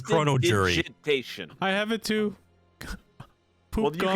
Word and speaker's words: Prestidigitation: I do have predigestination, which might help with that. did you I don't know how to pronounce it. It's Poop fine. the shit away. Press- It's like chrono jury. Prestidigitation.